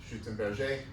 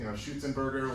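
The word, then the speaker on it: Schützenberger: So the name, I guess, is like German, but I think he lived in France, so it has a French pronunciation, Schutzenberger.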